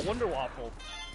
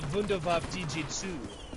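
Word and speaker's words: Wunderwaffe DG-2: womp he says no the w's are v's he says he's pronounced the vundevaf dg2 ah i looked at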